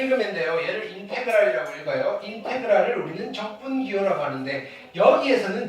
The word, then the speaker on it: 인테그랄: 1는 자 읽는 거는 이렇게 읽으면 돼요 얘를 인테그랄이라고 읽어요 인테그랄 우리는 적분 기호라고 하는데 여기에서는 적분의 의미는 없어요